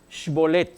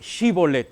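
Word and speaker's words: שיבולת: se imagina no no no se dice sh bolet se dice shibolet no no no no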